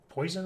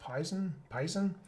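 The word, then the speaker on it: Poisson: And you can do like sort of a uniform distribution or a poison, which is poison, I think it's pronounced, Pison.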